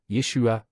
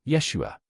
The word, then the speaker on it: Yeshua: Le nom qui résonnait dans la Judée du 1er siècle était différent, Yeshua, ou, dans une prononciation plus complète, Yahshua.